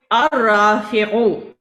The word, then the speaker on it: الرافع: الرافع. الرافع. الرافع. را کے اوپر تشدید ہے. یہاں پر آپ دیکھیں بچوں کہ لام, you don't have to show لام in your pronunciation.